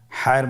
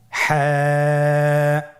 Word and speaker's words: ح: হা হরফটি উচ্চারিত হবে কণ্ঠনালীর মধ্যখান হতে। গলা চিপে ধরে আপনি উচ্চারণ করুন। আপনারা আমার সাথে বলুন হ্যাঁ।